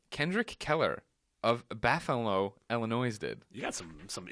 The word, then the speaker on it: Illinois: I have a weakness you're saying the state's name wrong it's Illinois it's not Illinois Illinois and I have a